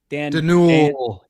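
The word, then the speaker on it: Dernulc: Uh the the uh Dan Is it Dan D'Nul? D'Nul. It's a silent C at the end.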